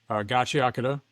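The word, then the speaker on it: Gachiakuta: Gachi Akata, because that's how you pronounce it.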